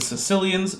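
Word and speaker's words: caecilians: lissamphibia it includes the Sicilians not the people from Sicily they're spelled differently but it's pronounced similarly in Modern English but they're well they're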